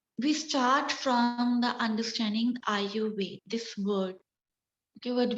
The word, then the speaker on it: Ayurveda: So Ayurveda, the word pronunciation, it's Ayurveda. Okay, in Sanskrit.